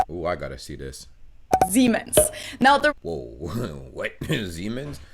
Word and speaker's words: Siemens: pronounce this terribly wrong now i've gotten so many comments from people saying that non-germans pronounced this brand name so differently and some people even said that to their ears it sounded like the english word c oh my god